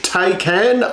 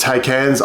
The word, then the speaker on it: Taycan: So the rumour is that it'll be the Porsche Taycan, I think I've pronounced that correctly, which is Porsche's electric offering out there as the safety car for the field.